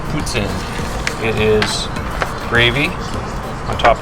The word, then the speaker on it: poutine: is traditional Canadian québécois it's in it's not pronounced poutine it's boots in it is gravy on top of fries and